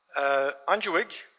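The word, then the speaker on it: UNGIWG: UNGWIG, as we pronounce it, United Nations Geographic Information Working Group, was established in year 2000.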